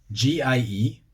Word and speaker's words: gie: If you were saying ye in, well, either English or speaking with a Scottish accent, you would pronounce the hard G. Gie. As it is in Scotland.